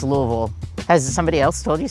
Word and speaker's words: Louisville: Louisville, not Louis-vull. It's Louis-vull. You got to get that vull. I say Louis-vull. But when I talk about my home, I say West Louisville. Yeah, it's Louis-vull.